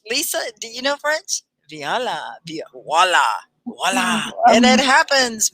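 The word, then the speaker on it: voilà: Have you heard that word voila? It sounds like W, right? Voila. Voila. Voila. But It's like a French word, right? it's French.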